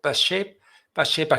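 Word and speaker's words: Pacepa: La teología de la liberación, creada por el KGB para destruir la iglesia desde dentro, así lo afirma Ion Mihai, ¿cómo se pronuncia? Pashepa, general de inteligencia soviética y el desertor de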